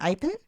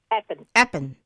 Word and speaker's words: Appin: How do you pronounce it in Apen? Aen.